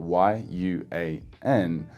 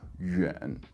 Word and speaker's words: 远: So this yuan sound will be spelled Y-U-A-N, and I suppose the most common word with this pronunciation is with a third tone, yuan, yuan, which means far away.